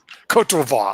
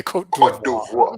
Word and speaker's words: Côte d'Ivoire: Côte d'Ivoire. I knew I got it wrong. Okay, Côte d'Ivoire. Okay, you got to have that French pronunciation. Côte d'Ivoire. Okay, anyway, he's stuck in the Côte d'Ivoire.